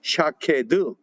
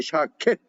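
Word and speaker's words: שָׁקֵד: 살고 나무 살고 나무가 히브리 말로 샤 캐드 또는 샤 켓 이렇게 발음합니다 샤 켓 윽 그러니까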